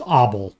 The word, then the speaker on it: Abel: so his name actually his name is pronounced abel but in english we've turned it into abelian billion group now there are